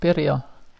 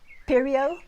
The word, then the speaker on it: Pirjo: And how do you pronounce it? Pirjo. Pirjo. Pirjo? Yeah. Nah, not quite. Not quite.